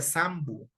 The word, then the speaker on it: Sampu: Se escribe así, pero se pronuncia Sambu, ¿ya?